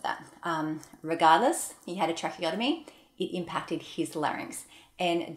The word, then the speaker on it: tracheotomy: Pronounce that well, tracheotomy.